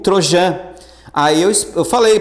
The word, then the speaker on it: Trojan: falou assim Ô professor não é Trojan É troian eu falei ah tá dane-se aí todo mundo começou a rir ah professora só queria te ajudar aí na pronúncia eu falei Dane lá na prova tem um microfone por favor pronuncie corretamente tem microfone na prova não tá mas depois eu fui ver no Google no Google tá para ver a pronúncia certinho realmente eu tava certo é Trojan tá tran Tá ok